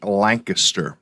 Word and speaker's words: Lancaster: good morning from Icy Lancaster. Now, friends, that's how you say it, just so you know, Lancaster. It's not Lancaster, at least not when you're in Pennsylvania. It's not. It's Lancaster.